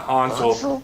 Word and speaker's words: Hansel: sounding name nikolai hansel kind of like hansel gretel nikolai and you have to say it like that hansel he's a senior offensive